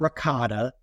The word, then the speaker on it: ricotta: It's not ricotta. It's ricotta.